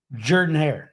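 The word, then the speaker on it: Jordan-Hare: and Jordan ha and you got to say it right Jordan hair not Jordan hair it's Jordan hair Florida Georgia interesting you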